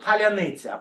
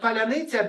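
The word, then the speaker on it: паляниця: to something that happened to Ukrainians, the word palyanytsia.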